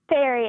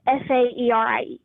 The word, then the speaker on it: Sairi: way, but it's spelled s a i r i Okay, but you said it's pronounced Sairi, right? Yes, sir. Like it rhymes with hairy.